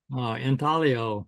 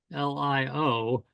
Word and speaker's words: intaglio: Intaglio. It's Oh, an Italian word, Intaglio. Some people call it intaglio, but it's properly pronounced with a soft G sound, intaglio.